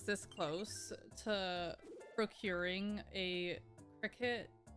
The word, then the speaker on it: Cricut: Holy moly, that word isn't pronounced cry cut. It is not.